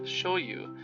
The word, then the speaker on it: shoyu: By 1668, Japanese soy sauce had become known around the world, and when shipments reached England, the Japanese pronunciation of shoyu was anglicized to sayo, or soy.